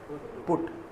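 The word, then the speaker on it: put: जैसे बी यू टी बी यू टी इसको कैसे प्रोनाउंस करेंगे? बट बट लेकिन पी यू टी पुट spelling same है लेकिन प्रोनाउंसिएशन अलग-अलग है।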